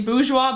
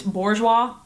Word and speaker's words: bourgeois: were really weird like I say boua but apparently it's Bourgeois um and then pastels